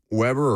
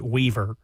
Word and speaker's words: Weber: So Weber or Weieber, however you pronounce the last name. Forgive me, if I've mispronounced it. The B is actually a V. It is Weaver.